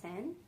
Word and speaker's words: Seine: It's pronounced Seine. It's after Seine River in France.